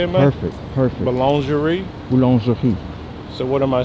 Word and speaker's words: boulangerie: Boulangerie.